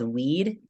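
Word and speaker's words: Oui'd: So the song is called Weed. It's spelled OUI''D.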